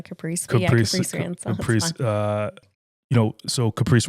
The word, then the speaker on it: Kaprece: Kaprece Ransaw, correct? I think pronounce it? Yeah, I just go by Caprice.